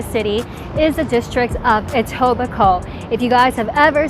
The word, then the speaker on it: Etobicoke: where is a suburb outside of toronto it's pronounced etobicoke and what i love about etobicoke is that